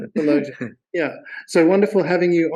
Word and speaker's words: Sulojana: Did I pronounce that correctly? Solojana? Solojana.